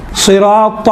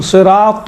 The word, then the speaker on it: صراط: زیادہ فرق نہیں ہے۔ اسی تا کا تلفظ کو تھوڑا موٹا بنائیں تو ہی بنتا ہے۔ صراط المستقیم، تل نہیں ہے، تل مستقیم، تھوڑا سا موٹا انشاءاللہ تعالیٰ اس میں